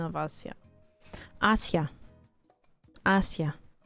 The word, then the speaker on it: Asia: Asia. Asia. Usually in Russia we say Asia, but you know English everything else Asia.